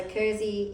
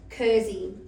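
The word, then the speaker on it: Kerze: So, Kurzy is the German word for candle. Uh because my mom is was German. Um so yeah, what's it called? Sorry. Kurzy.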